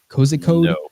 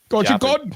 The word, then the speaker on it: Kozhikode: Well, I wouldn't assume they'd have the same English rules of the E, so I would imagine you pronounce it. Kozhikode. It would be like God. Kozhikode. Kozhikode. No, it wouldn't be ode. Maybe it would be odd. Kozhikode. Kozhikode. Yeah, that sounds probably a bit more accurate.